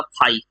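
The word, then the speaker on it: φ: फाई electric flux है pronunciation होता है इसका फाई ये देखो फाई वर्ड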